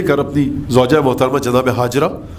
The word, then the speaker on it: ہاجر: تاریخی واقعہ جو ہوتا ہے, حضرت ابراہیم آئے جب لے کر اپنی زوجہ محترمہ جناب ہاجرہ, جن کو ہم اردو میں ہاجرہ کہتے ہیں بلکہ اس کا صحیح تلفظ ہاجر ہے, جناب ہاجرہ کو لے کر آئے.